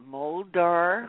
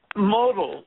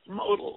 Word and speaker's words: Modal: from The Holy uh how do you say that moldar rounders modal modal like modal yeah like when the